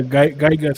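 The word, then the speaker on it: Giygas: the link wow uh is it pronounced gigas or yeah guy guys from earthbound that's uh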